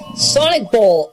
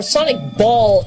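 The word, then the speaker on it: Sonic Boll: Sonic Bowl, or Sonic Ball, as some people might pronounce it.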